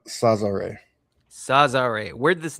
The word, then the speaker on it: Sazare: Yeah, so it's pronounced Sazare.